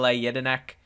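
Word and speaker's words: Jedinak: yeah good player and there that's how you pronounce his name m yedinak for the person who wanted to know and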